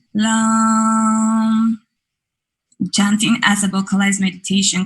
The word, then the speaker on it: Lam: The sounds are pronounced with a soft A. For example, Lam will be Lam.